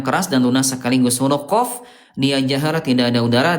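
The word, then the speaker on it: قاف: Bedanya kalau qof pangkal lidah dinaikin ke langit-langit atas eh benar ya, ke langit-langit yang lunak tadi ya. Ee kalau huruf kaf langit-langit yang keras dan lunas sekaligus. Huruf qof dia jahr tidak ada udara dan kaf dia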